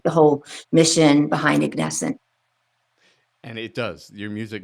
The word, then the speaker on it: Ignescent: And I been practicing saying their name right, Ignesscent. I hope I got that right. And Jennifer and Cole are about to let me know. Did I say it right? Yes, you did. Perfect.